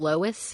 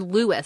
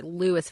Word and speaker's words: Lois: with a guy named Lois Fair or Lewis, sorry, Lewis Farragate, spelled Lois, but pronounced Lewis.